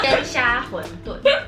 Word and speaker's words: 鲜虾馄饨: 鲜虾馄饨。